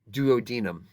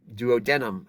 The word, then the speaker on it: duodenum: in the East Coast they're gonna say duodenum and duodenum I've also heard before I was always taught to widen them so you choose from those three pronunciations all are correct as far as I can tell jejunum is the second